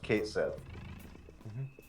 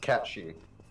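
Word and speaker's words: Cait Sith: It's not supposed to be pronounced Kate Sith. It means it's pronounced Catchy. Catchy? Catchy. Catchy. Yeah. So, Because Show me your true form. it's basically it comes from the Irish language.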